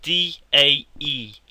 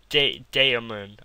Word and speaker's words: Daemon: anything, you'll think it's a bit weird, but it's spelled D-A-E-mon. Daemon.